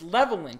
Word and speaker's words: Levelland: love you oh Chico it's spelled level land but it's leveling she goes from Texas